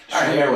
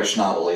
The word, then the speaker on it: Schnabel: Schnabel, I think, is the correct pronunciation for it. But Schnabel or Schnabel, either way.